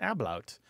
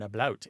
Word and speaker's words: ablaut: The second kind is where there's something called an ablaut. Or an ablaut, A-B-L-A-U-T.